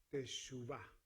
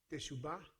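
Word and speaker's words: תשובה: Esta es la palabra hebrea para arrepentimiento, que se pronuncia teshuvah.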